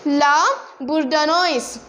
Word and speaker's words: La Bourdonnais: He was, see the pronunciation, La Bourdonnais.